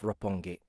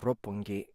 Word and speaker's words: Roppongi: of rope one gate Roppongi Rob punky when there's a double consonant when there's a double